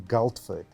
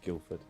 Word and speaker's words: Guildford: McAllister was born in goldford am I saying it right Guildford Guildford I'm so sorry from the UK and has been in South Africa since 2016.